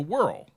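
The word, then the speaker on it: Wirral: by the Welsh border called the Whirl I think that's how you pronounce it w i r r a l whirl WHL I believe this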